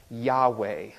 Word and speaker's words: Yahweh: that we probably will translate or pronounce as Yahweh today we don't really know how to say it because the Jewish people won't speak it out loud if a Jewish